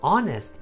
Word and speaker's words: honest: but he is an honest man so we're missing the article n no a but an honest because we don't pronounce the h here number two have you